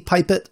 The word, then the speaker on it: pipette: but to craft yourselves a pipet or a pippet however you want to pronounce it it is one block